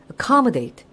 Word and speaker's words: accommodate: accommodate. 지금 발음들 하고 계세요? 근데 무슨 뜻? 그렇죠. 뭔가 수용하다. 뭐 사람들을 받아들이다. 이런 게 accommodate죠. 강세 위치 특히 중요합니다. 첫 음절에 강세 안 들어가는 경우 발음 꼭 해보시고요.